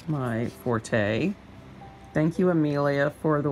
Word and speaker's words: forte: The reason that we tend to say forte is because that is how the Italian word spelled in that F-O-R-T-E is pronounced, and in Italian that means loud. It's a musical term.